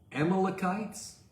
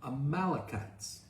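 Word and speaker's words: Amalekites: The Amalocites or the Amalachites. They're talking about the same people. uh because of the the number of uh syllables, sometimes the stress is different as the syllables go out.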